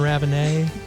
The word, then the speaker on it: Raven: I'm joined by Raven French pronunciation on Raven is a podcast